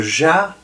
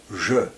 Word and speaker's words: je: When you say "Je", it's neither "Ja" nor "Jo". "Je".